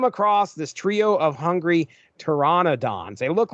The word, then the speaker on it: pteranodons: reading this book and I'm saying pteranodons. That is not correct. It is pteranodons. There's an N-O in there I was completely missing. But anyway, they come across this trio of hungry pteranodons.